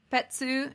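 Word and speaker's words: Petz: uh so uh pets her name is pronounced uh petsu in japanese uh is is named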